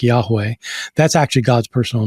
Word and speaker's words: Yahweh: In English, it'd be YHWH, and I'm not sure how it's pronounced. We think it's something like Yahweh.